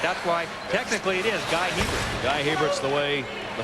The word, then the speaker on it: Guy Hebert: it's supposed to be Guy Hebert, but that is not the way his family pronounces the name. It's Guy Hebert. He is not Canadian. He does not have a French pronunciation.